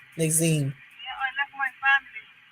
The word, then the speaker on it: Nasim: Nazine.